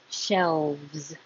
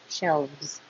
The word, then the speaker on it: shelves: This is a weird combination. The L, V, and Z. Looks like an S, but sounds like Z. Shelves. So take your time to go from the L to the V to the Z.